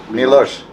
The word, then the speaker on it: Milos: Milos.